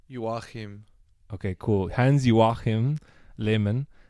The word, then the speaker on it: Joachim: Jans, how do you say Joachim in German? What? Joachim. Joachim.